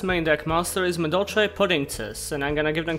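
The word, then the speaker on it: Puddingcess: Their last main deck monster is Madolche Puddingces, and I'm gonna give them credit here. This is a pun that transcends dialect and language, given that it's essentially just the Japanese pronunciation of princess.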